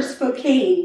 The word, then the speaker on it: Spokane: from that area and they call it spokane but it's it's um spelled with an e so it should be a long a should be spokane listen but but i'll